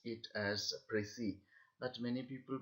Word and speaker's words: précis: We have to pronounce it as Precis, but many people pronounce it as Precis.